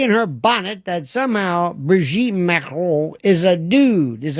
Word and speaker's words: Brigitte: idea that Brigitte Macron, notice how I say that in the authentic way, Brigitte Macron. It took a long time for me to learn how the correct pronunciation.